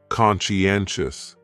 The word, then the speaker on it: conscientious: That second syllable is what really confuses people, because that sigh almost sounds like you're saying she. Conscientious, conscientious.